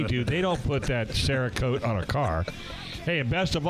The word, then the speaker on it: Cerakote: They can clean, repair, upgrade, or even customize your gun, including, how do you say that? Cherokee? Cherokee? Oh, Cerakote. Cerakote.